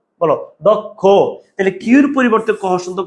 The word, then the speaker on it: দক্ষ: ভাইয়া এখন আমরা শিখব কুমিল্লা বোর্ড 2024 দক্ষ ভাইয়া দক্ষ।